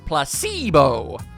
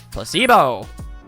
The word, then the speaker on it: placebo: today repeat after me placebo the stress is on the middle syllable placebo placebo splendid it's so charming